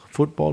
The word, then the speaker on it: football: Football, futebol. Reminded me of that. Well, in English, two syllables, football, and two syllables, podcast.